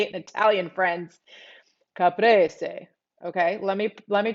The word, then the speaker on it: caprese: say it italian friends caprese okay let me let me transport myself to italy of course what i'm talking about caprice some people say caprice it's caprese caprese i mean you can